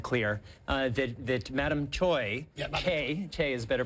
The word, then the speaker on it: Choi: it's it's 100% clear uh that that Madame choy is better pronunciation um had access to a lot of